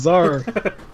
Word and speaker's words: Tzar: Fuck off, it's Tzar. The T is silent, not the fucking Z.